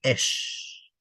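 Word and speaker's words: אש: La palabra fuego en hebreo, ¿cómo se dice? Se dice esh.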